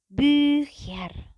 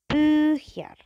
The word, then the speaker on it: Bücher: Caranya adalah kalau O umlaut dan U umlaut kalian butuh monyong gitu ya. Kalian butuh memonyongkan bibir kalian. Contohnya ada di sini adalah Bücher. Bücher. Bücher. Gitu ya. Jadi monyong itu yang paling penting.